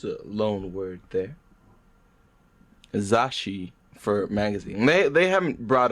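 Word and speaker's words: zasshi: Yeah, the way it's usually described is that it's like a double consonant. So if you split up the Romaji spelling of it, like the Z-A-S-S-H-I, it's almost as if you're pronouncing it like zashi. There's like zashi. a double shi in there a little bit.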